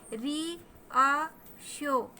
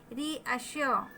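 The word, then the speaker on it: reassure: री अ श्यो, ये देखें आप, लंबा सा जो एस बना है वो शा शक्कर वाला हमको उच्चारण दे रहा है। री अश्यो, आर आपके मुंह में ही रह जाएगा।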